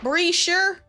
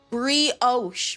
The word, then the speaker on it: brioche: Brioche. Brioche. Yes. I knew what it was. I knew what it was. Brochure. Brioche. It's not my fault. My family set me up because they were pronouncing it wrong the whole time.